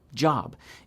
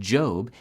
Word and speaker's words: Job: Job, the main character of the book of Job, could absolutely be pronounced like Job if things were different, for example. But the standard long O pronunciation, Job, is well established.